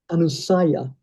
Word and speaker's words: anusaya: And somebody said that because the anu is the prefix, anusaya.